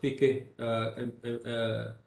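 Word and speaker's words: فقه: What are the limits of fiqh? How do you pronounce this word in Arabic?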